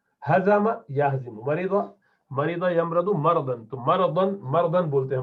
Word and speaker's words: مرض: بولنا ہے, تب بھی را پر زبر ہونا چاہیے. مرض نہیں ہے, مرض, مرض. ٹھیک ہے, ان کو کیا مرض لاحق ہے, مرض غلط تلفظ ہے اس کا, مرض.